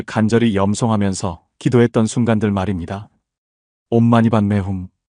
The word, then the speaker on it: 옴마니반메훔: 옴마니반메홈. 이 6글자의 진언은 관세음 보살님의 자비심이 응축된 신성한 소리입니다. 티베트어로 읽으면 옴마니 파드메 훔이고 한국식 발음으로는 옴마니반메홈입니다.